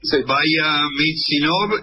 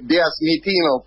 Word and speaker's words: Vyazmitinov: Vaya Mitsinov, dije bien, ¿cómo se pronuncia su apellido? Vyazmitinov, bueno, el apellido es difícil hasta para los rusos, así que lo pronunció bien, muchas gracias.